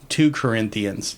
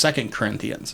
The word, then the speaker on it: 2 Corinthians: he said like two two Corinthians you know and anybody who's been to either a Bible study or to church or anything like that knows it's pronounced 2 Corinthians mhm but he said it wrong he said it wrong